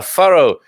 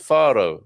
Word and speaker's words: Faro: good morning portugal uh farrow farro is pronounced faro satterbaal is pronounced double